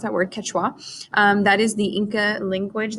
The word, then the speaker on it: Quechua: which is right here so that's how you pronounce that word Quechua that is the Inca language that is still